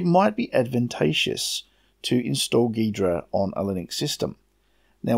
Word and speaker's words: Ghidra: Deidra now download the Ghidorah first some have been telling me this is actually G Hydra but I'm still going off the wiki pronounciation so it lets download nidra